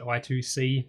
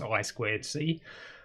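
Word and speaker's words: I²C: actually works with i2c i typically will pronounce it i2c simply because it's easier even though technically it's i squared c um so we'll have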